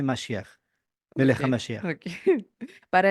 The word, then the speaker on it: Mashiach: el equivalente del hebreo Mashiach. Mashiach. Mashiach. Uy, mijo. Mashiach. Mashiach. Bueno, ahí le ayuda a ver con la pronunciación en hebreo se dice Mashiach.